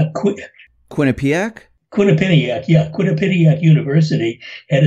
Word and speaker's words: Quinnipiac: couple of days ago the latest if I'm pronouncing the University right quick Quinnipiac Quinnipiac yeah Quinnipiac University and its approval rating at